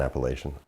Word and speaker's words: Appalachian: I KNOW THAT THERE'S TWO DIFFERENT PRONUNCIATIONS OF THAT TERM, BUT I GREW UP SAYING APPALACHIAN. YEAH, MY FATHER'S SIDE OF